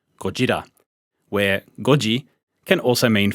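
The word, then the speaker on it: ゴジラ: a play on words from the original japanese pronunciation gojira where goji can also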